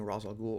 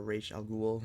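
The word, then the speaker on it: Ra's al Ghul: Pit which I really really enjoyed anything involving Ros aloul or ra algl depending on on how you'd like to pronounce it is is great because I have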